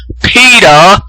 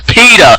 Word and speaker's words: PETA: And then Atheist Gamer 100, who can't pronounce fucking PETA, yes, PETA, like PETA, not PETA.